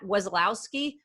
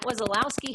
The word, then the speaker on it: Wesolowski: I've got Wesolowski. Rats, I forgot to ask you how to pronounce that before we got started. Is that correct? That's perfect. Yep. Yay! I've got Wesolowski here with me today.